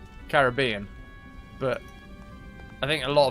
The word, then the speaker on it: Caribbean: have no idea where the pennies is it Caribbean with equal stress on the syllable of Kerry paws and bean yep oh I say Caribbean but I think a lot of people especially